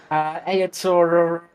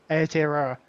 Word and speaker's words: Aotearoa: Ayator, It's getting better. yeah, one day I'll get it. It's Ayator Aurora. Aotearoa.